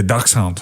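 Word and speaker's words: Dachshund: why they're all chubby are you saying Ducks Hound is that how you say it yeah duck Hound so he's he's German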